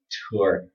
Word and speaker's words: tour: Tour. Maybe it has to do with dialect. Some dialects might pronounce this like this exactly.